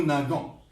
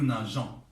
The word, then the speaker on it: nageons: لا يصح، تصير نو ناغون. لابد أن نضع الأو، نو ناجون. إذا لم نضع هذا الحرف لافويل هذه لا تنطق جي، تنطق جي، تصير نو ناغون، هذا غير صحيح.